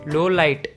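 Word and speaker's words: Lawliet: Loliet and Loliet is pronounced as low light.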